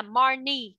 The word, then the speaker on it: Marnie: Again, cái từ cái tên này nó đọc sai á, tên này con đọc nó bị ghi nhầm chữ cái á, nó là Marnie.